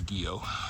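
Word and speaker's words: Guyot: mountain after guo or if you're looking trying to look it up it's spelled Gat guu yo T but the locals told us it was guo said it's French huh I don't know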